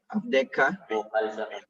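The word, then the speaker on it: עַבְדְּךָ: The first shua here is silent. The second shua is vocal, right? Abdeka.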